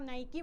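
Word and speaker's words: Nike: की है ठीक है नाइक है नाइकी नहीं है ठीक है उसको नाइक प्रोनाउंस करना है मैं भी पहले नायकी बोलती थी ठीक है फिर मेरी किसी फ्रेंड या नहीं किसी टीचर ने टोका था मुझे कि वो नायकी नहीं होता वो नाइक होता है ठीक है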